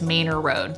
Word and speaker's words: Manor: Fun fact that you probably don't know just yet, this street is actually spelled like the word manor, but Austinites pronounce it as Manor Road.